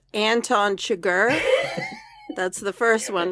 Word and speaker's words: Anton Chigurh: Jeff, it's pronounced Anton Chigurh.